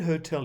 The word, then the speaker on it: hotel: sst helps the word hotel is stressed on the second syllable many people stress it on the first and some people get